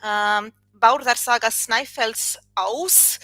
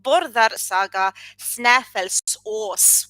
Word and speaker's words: Bárðar saga Snæfellsáss: a very interesting story, Bárðar saga Snaefellsáss. That would be the modern Icelandic pronunciation. If you prefer the medieval pronunciation, that would be Bárðar saga Snaefellsáss, with Ós meaning God, plural Esir.